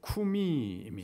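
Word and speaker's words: קוּמִי: 히브리어 로 는 " 쿠미 " 라고 발음 합니다 .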